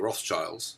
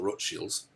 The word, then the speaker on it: Rothschild: world wars and basically the rothschilds or actually as it is pronounced the rote shields uh the red shield